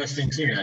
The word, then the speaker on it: Oświęcimia: Dni Oświęcimia, yes.